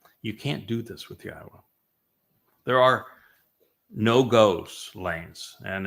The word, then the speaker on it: Yahowah: And they changed Yahweh's name, which is clearly pronounced Yahowah based upon Torah, based upon Haya, to Yahweh, all to accommodate their desire to change God into their image, into her image.